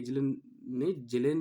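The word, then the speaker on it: Kjellén: भू राजनीति, जियोपॉलिटिक्स शब्द का प्रथम प्रयोग स्वीडन के जेलेन ने किया था। ये के साइलेंट होता है, इसमें जेलेन पढ़ते हैं इसको।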